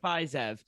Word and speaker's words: Fiziev: Fiziev, yeah. Fiziev.